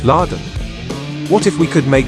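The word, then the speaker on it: ラドン: Pronounced in Japanese as Laden.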